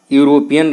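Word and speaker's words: European: तो देखिए बच्चों, यूरोपियन आपका वावेल से तो स्टार्ट है, लेकिन इसका जो प्रोनाउंसिएशन है, उच्चारण है, वो उच्चारण या से स्टार्ट होता है और यह आपका आता है कॉन्सोनेंट में, इसलिए इसके पहले लगेगा ए।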